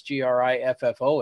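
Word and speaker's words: Griffon: of course is that they spell it with the European spelling it's Grif fo and it's it's not like Peter Griffin you know or any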